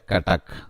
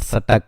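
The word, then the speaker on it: Cuttack: तो this is नॉट सटक, सटक नहीं है. इट स्पेलिंग लाइक सटक, CUTTSK, बट it's pronounce like कटक के.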